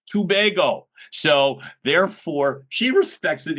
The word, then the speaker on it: Tobago: And I'm going to mispronounce it on purpose. Tobago. And then it says pronounced tubego.